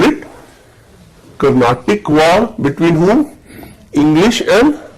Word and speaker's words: Carnatic: What is Carnatic? It is not Karnataka. It is Carnatic.